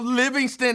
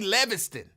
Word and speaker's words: Livingston: And exactly how Livingston is spelled. L-I-V is not Lev. In I don't think any language Livingston would be Leviston.